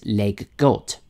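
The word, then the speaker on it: leg godt: word Lego actually comes from the Danish words leg got pardon my Danish pronunciation now these words actually mean play well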